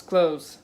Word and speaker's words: clothes: say yes that's why you pronounce clothes as like close the door and oh I love